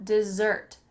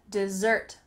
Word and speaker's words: dessert: The emphasis is on that second syllable, dessert, dessert.